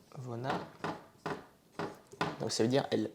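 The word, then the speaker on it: вона: Pareil pour Vona. Vona. Qui se dit Vona. Donc ça veut dire elle. Donc ça c'est le V et ça c'est le N. Donc Vona qui veut dire elle.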